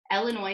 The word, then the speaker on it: Illinois: and hit the road Illinois says yes my name is Illinois and I need one airline ticket to onwell Illinois no the S is silent New York is looking